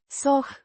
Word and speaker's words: Să: Pronounced. Soh. Like the so in soar, but with a slightly softer, more breathy sound.